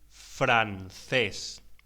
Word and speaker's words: francés: Pronúnciese francés. La C ante las vocales E o I se pronuncia como una TH en inglés.